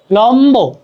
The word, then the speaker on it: লম্ব: মজা করে ফেলতে পারো ব অথবা ম এর সাথে বফলা যুক্ত হলে ব এর উচ্চারণ অবিকৃত থাকে লম্ব লম্ব দেখ লম্ব লম্ব বিম্ব